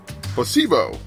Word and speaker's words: placebo: to our vocabulary today repeat after me Placebo the stress is on the middle syllable placebo it's so Charming